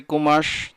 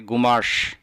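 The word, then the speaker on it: قماش: দোনোটার অর্থ হচ্ছে কাপড় সঠিক আরবি হচ্ছে কুমাস তো আরবিরা বিশেষ করে ক এর উচ্চারণ করতে পারে না তারা ককে গ বলে বলে সে কারণে আরবিতে সাধারণত বলে থাকি ঘুমাস এর অর্থ হচ্ছে কাপড়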